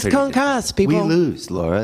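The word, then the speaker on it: concassé: Computers never do the accent. No, they do. So, Would you explain to them that in the kitchen it's concasse?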